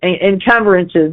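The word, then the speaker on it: encumbrances: Incuberances. And or mortgages incumbrances.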